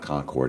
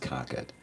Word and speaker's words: Concord: It's not Concord, it's pronounced Concord.